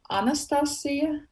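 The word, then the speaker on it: Anastasija: In Latvian, I would say Anastasia. Anastasia. Well, and so it's with a J, but like I don't know how in Americans in Okay. English you would pronounce it.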